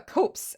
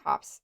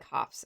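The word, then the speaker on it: copse: It's It's pronounced uh copes actually. Copes whisker. Or is it Does it sound like cops? Hang on. Hang on. Let's Let's It is like cops.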